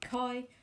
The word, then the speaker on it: chi: about the chi-squared test you can call it the chi squared test but i don't think that's the right way to say it um so you pronounce it chi squared and the symbol